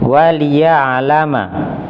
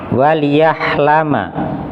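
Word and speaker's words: وليعلم: Waliya'lama. Waliya'lama. Tadi saya mendengarnya suara ha. Waliyahlama. Nah, mungkin terlihat sekilas seperti ha.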